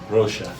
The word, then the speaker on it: Rocha: Rocha.